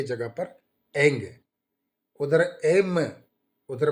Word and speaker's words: ऐं: आप direct ऐंग ह्रींग cling चामुंडाय विचे, एम के जगह पर एंग करना, म की जगह कर एंग, एंग एंग आप उच्चारण करेंगे एम, तो आपको ये हृदय की जो धड़कन है ये धड़ नहीं होगा।